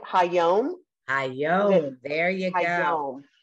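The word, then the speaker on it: היום: Ha'om. Is that right? Hayom.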